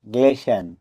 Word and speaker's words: glisten: এখানেও টি লেটারটি সাইলেন্ট থাকবে কারণ টি এর আগে এস লেটার আছে।